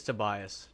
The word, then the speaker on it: Tobias: Yeah, toe bias. Oh, right on. Okay, it is Tobias. Tobe bias.